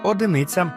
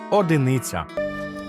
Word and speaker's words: одиниця: припускається типової помилки кажуть одиниця але правильний варіант одиниця наголос завжди на і в останньому складі бо це від слова один А ось це слово